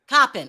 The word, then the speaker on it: Coppin: Is it Copen? Oh, Andrea. Okay. I can't hear you. You're on mute. Oh, sorry. Copen State. Copen. Okay, Copen. Like copper? Oh, Copen Yes. State. Copen State.